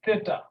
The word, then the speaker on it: theta: greek the greek letter it's pronounced as theta this was not zero it's theta yeah i remember in